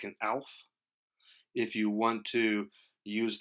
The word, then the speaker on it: Aelf: in that sense you'll be more like an elf but as I said there are so many exceptions to that that eel is actually a decent way to do it